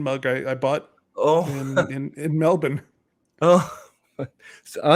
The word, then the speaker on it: Melbourne: in Melbourne. Oh. Oh, you said it right, Melbourne. Everyone's been saying Melbourne.